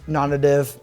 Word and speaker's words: NONNATIVE: tomato tomato Vibram Vibram non-native nonnative however it is if somebody knows the true answer please let us know but I did go through their videos and I believe the correct pronunciation is nonnative so I got I